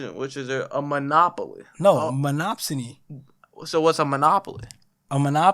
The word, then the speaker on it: monopsony: That's how you pronounce it? I think monopoly. No, the second one. Yeah, no, I see that, but is no, I think that's generally the word. The word is generally monopsony, bro.